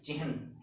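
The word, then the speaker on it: चिह्न: सकते हैं हम चिहन, क्योंकि इसमें न के साउंड लास्ट तक जानी चाहिए, और इसमें न आता है और इसमें है पूर्ण है, इसलिए इसकी प्रोनाउंसिएशन होगी चिहन।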